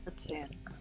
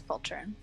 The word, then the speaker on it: Poltroon: Platoon. What? No, it's Poltroon.